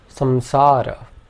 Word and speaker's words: samsara: point, for our purposes, we can pronounce it like a nasal M. So for example, we would pronounce balam and samsara.